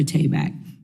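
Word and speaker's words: Tabak: your name tayback on to be correct Dr tayback can you elaborate on how initiatives such as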